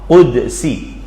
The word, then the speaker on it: qudsi: Hadis qudsi pakai qaf, qudsi.